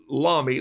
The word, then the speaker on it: Lamy: i'm gonna grab a lami this is my uh german uh pronounced and john robert small says lommy like mommy for years i called it a lamy but uh maybe maybe